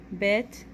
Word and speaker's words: bet: we have a vet bet is with a dot that is without a dot bet sounds like be banana that sounds like V Victor let's practice writing bit